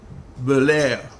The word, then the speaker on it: Belair: So now this is something that just caught my eye the other day, because I always knew her name, Sanit Belair, but I didn't know she was a full-fledged